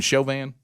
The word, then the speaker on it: Chauvin: button all right so are we deciding we're going to call him derek chavin or or chauvin we going chauvin that's the proper way to say it as far as i've heard it said i like chauvin i've